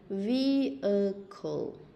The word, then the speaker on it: vehicle: Các bạn nhìn nè, vehicle, à, vehicle, vehicle, vehicle. Ta sẽ đọc là vehicle. Vậy chữ H này cũng câm.